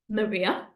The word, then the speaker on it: Maria: In Spanish, we would say it like this: Maria, Maria. So hopefully you can see that my mouth is opening quite a lot, but this is an open A, okay? Maria, okay? In Portuguese, we're actually going to use closed A's. What does a closed A sound like? It sounds like the word away.